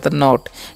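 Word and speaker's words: knot: होने देना ठीक है के एन ओटी है तो कनॉट नहीं पना एन का न करना है ओ का टी से नॉट इसे के जो है यहां पर साइलेंट होता है ठीक है और नोट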